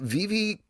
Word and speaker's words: VeVe: Did I mispronounce? You actually pronounced it perfectly. Most people say VeVe, so thank you.